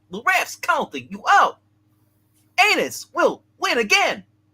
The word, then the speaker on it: Unus: Pronounce it right. It is Anus.